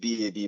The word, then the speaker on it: Bab: It's actually pronounced B-A-B, Bab.